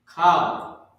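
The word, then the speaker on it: כל: Kal. K-A-L. That's how you pronounce this word.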